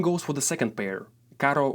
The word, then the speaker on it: caro: for the second pair Caro with one ER means expensive and Caro with two means a car this is a perfect